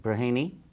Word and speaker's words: Braheny: His name is John Braheny. Did I pronounce that correctly?